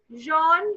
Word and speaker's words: Jean: Jean, कुछ भी silent नहीं है. Nothing is silent.